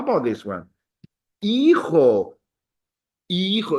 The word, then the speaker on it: hijo: Hijo. It's a kind of hard word to pronounce because the H is silent and the J sounds like an H.